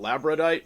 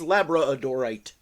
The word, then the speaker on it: labradorite: look at some labradorite some people call it labite but I think the correct pronunciation pronunciation can pronounce pronunciation is labra odorite now you know me I don't care about